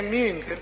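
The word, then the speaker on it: Münch: Sì, no, si legge Munch.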